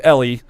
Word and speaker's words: Eli: next to him is Ellie. Yes. His name is spelled like Eli, It's like but Eli, but it's Ellie. But it's Ellie.